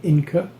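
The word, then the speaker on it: Inker: This is the Inca. And when I say Inca, I mean it is spelled I-N-K-E-R.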